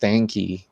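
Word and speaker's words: Stankey: and I think his name is pronounced stanky I stanky stanky s a n ke y That's he's the CEO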